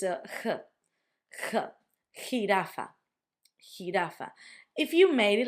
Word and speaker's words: jirafa: which is J, but the sound for us is it's almost as if you were gonna try to clear your throat if you got a bit of phlegm, like so jirafa. Jirafa. It could also be a very strong H for you, but it's a jirafa.